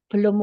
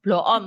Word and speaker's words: Bloom: Taksonomi Bloom jadi belum Ini nama orang ya belum bacanya Ya jangan blom atau bloon bukan berarti khawatir saya jadi bloon jadi Taksonomi Bloom ini